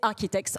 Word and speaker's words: RKTKZ: s'appelle rktkz qui mais qu'il faut prononcer c'est architex en anglais voilà j'ai tout dit